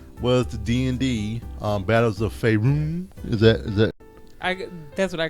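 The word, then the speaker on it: Faerûn: You know, I don't even know why I try to do pronunciations and stuff like that. Try to act like I'm right. So I said Faerun. It's Faerun, Renee.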